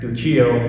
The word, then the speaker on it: Duccio: gospel text i went to the italian painter duchy o and yes i did have to look out how to pronounce duccio is considered one of the greatest